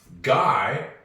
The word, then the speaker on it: guy: Guy is gu. This is English. The U is silent, isn't it? Don't ask me why it's there. Why didn't they just spell it gy?